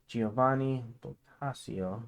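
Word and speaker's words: Giovanni Boccaccio: caman and under the influence of petar's humanism Giovani basio that's how you pronounce it devoted the last Decades of his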